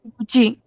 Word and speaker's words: Gucci: Just pronounce it. Gucci. Gucci. Okay. Anybody else? Quick. Gucci.